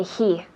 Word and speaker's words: he: Y otra vez con la pronunciación de he. He. La H es suave. He, decimos. He. Como, no sé, limpiando las gafas, decimos y limpiamos. He. Muy suave.